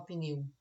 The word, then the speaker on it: pneu: a professora pneu pneu Será que eu falo PN primeiro e depois eu não lembro que eu falei que não pode existir sílaba sem vogal fecha a sua mão também e fala pneu pneu é uma única vez Então eu tenho uma sílaba transformação fecha sua mão